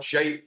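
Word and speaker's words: Scheidt: Raphael Shite is his name. That was his proper pronunciation.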